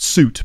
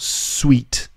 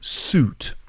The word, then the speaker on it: suit: wearing a suit and that's pronounced suit by the way not sweet or suit it's suit so when you're wearing a